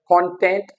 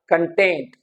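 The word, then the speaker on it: content: क्या करते एक्ट करते for example कंटेंट इट्स a noun कंटेंट इट्स a noun कंटेंट इट्स a verb कंटेस्ट इट्स a noun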